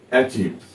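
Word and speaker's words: achieve: বিষয়টা okay I ই আই আর ই এটা যদি পাশাপাশি বসে তখন উচ্চারণটা কিন্তু আবার দীর্ঘ ই করবো আমরা অর্থাৎ এই দীর্ঘ ই আর উচ্চারণটা আমরা করেছি এচিভস এ সি এইচ আই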